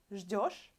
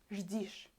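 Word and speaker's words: ждёшь: You wait, I will put и instead of yo. Ты ждишь. Instead of ждешь, ждишь. Totally different pronunciation, totally different word. There is no such word in Russian, ждишь.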